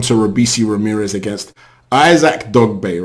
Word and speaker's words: Dogboe: Bay and he said the G and the B should be pronounced together it gives a heavy B sound so that is it